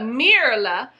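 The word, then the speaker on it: Myrla: let's go on to mirala not merla but mirala trying to remember i got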